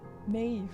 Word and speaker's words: Maeve: Like, Queen, if you read up on Queen Maeve, Maeve would be M-E-A-V-E, like that's how it's spelt, but it could be M-E-A-B-H, like that's the B-H is the Maeve, that bit, so the Irish bit.